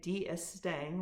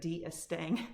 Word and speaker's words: D'Estaing: Following the alliance with the French, Admiral and I wanted to say D'Estaing, which shows I do not know my French.